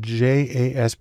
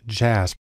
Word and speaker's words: JASP: open source Community has developed a program called jasb it's actually pronounced jasp which is sort of an open source version